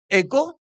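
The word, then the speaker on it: Echo: de hoy, el hamburger Eco. Ecco se pronunce e ya Hamburg Ecco y eh otro otro diario más.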